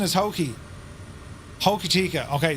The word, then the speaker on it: Hokitika: My phonetic pronunciation is Hoki. Hokitika.